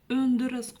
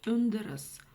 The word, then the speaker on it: өндіріс: Как прочитать букву Ö с черточкой снизу? Ну, на самом деле очень просто. За основу нужно взять букву Ё. Но буква Ё, когда мы ее изначально произносим, да, мы слышим и краткую. Вот эту часть мы убираем и краткую, и у нас остается звук Ö. Это примерно как буква Ё после согласной. Например, в слове пес.